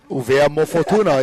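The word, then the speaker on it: ʻUvea mo Futuna: Uvea Mo'ofatuna is a proper way to say it. I'm no longer saying Wallace and Fortuna. Yeah, I'm saying Uvea Mo'ofatuna.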